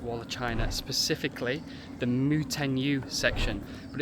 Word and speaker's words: Mutianyu: Mutianyu. Mutianyu.